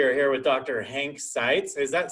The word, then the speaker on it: Seitz: Hank Seitz. Is that Seitz? Is that how you pronounce that?